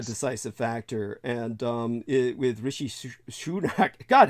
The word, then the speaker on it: Rishi: even remember his name Rishi sunak Rishi shunak oh yeah he went to